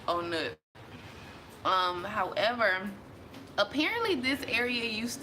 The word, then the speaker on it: On Nut: I love in Bangkok is called owner like on nut but they but they pronounce it owner however apparently this area